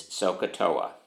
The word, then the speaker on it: SOHCAHTOA: Turnham and that is sohcahtoa and notice the way I'm gonna spell it s o h c ay h TOA and in my class